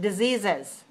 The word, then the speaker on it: diseases: And how about diseases? Diseases. Extra syllable. Extra syllable because the word disease already has z at the end. We have to add a syllable to have three syllables, right? So now we say diseases.